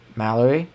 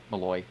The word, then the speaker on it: Malloy: Mallerie, how do you say it? Malloy. Malloy. Thank you. Not not like for duck. My bad. Malloy uh there's no R there.